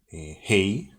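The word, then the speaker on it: ה: Hey, so this is like hey, hello.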